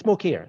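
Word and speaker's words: Mokyr: is another legend joel muker or i don't know if i'm pronouncing his name correctly what it's pronounced it's smokier yeah yes he's a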